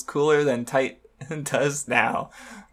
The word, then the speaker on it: Tite: Japanese syllables T thing apparently it's actually supposed to be pronounced tight like a word for cool that's not cool anymore